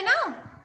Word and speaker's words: know: में भी तो है ना। Ma'am, Kavani. सभी तक मेरी आवाज जा रही है proper? Deepika, आविरल? Reek. Okay, next आपका है नो, KNOW, नो। Which letter is silent? K. K. Find more words.